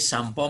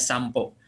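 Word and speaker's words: さんぽ: Dewata swasta shampo Simas disini shampo menggunakan m boleh walaupun hiragananya NY shunpo tapi dibacanya shampo karena n menghadapi hai hai Hai dari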